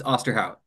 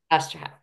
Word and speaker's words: Osterhout: Is that how you pronounce it? Hout? You were close. It's Osterhout. Osterhout.